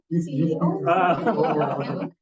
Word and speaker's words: UCSI: No, that's UCSI. Yeah. So okay. So the way to pronounce this is to spell out the letters. So it's not. It's not the youth acronym.